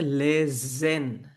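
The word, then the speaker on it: lesen: এই এসের এখানে কি আছে ই আছে এটার উচ্চারণ হচ্ছে লেজেন জ লেজেন আর যখন লাস্টে থাকে এটা হচ্ছে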